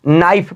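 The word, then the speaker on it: knife: ये एन से पहले आया हुआ के बिल्कुल साइलेंट होता है इसको नाइफ पढ़ेंगे याद रखिएगा यहां पर भी है एन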